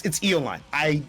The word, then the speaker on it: Eolyne: Well, Eolyne, it's Eolyne. If you look at their Discord, it has it pronounced there.